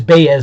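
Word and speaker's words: Báez: kind of sounds like an eye but is pronounced different it is baez actually without squeaky land on top of the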